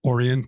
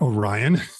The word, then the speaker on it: Orion: like the uh the bolt is is manufactured in orian Township not Orion even though they're still the same so yeah you get different pronunciations